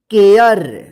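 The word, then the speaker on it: care: इसको देखिए यहां पे रूल्स इसका कि जब किसी वर्ड में ए के बाद लास्ट में आर ई रहता है तो इस ए का ए उच्चारण होता है जैसे यहां पर देखिए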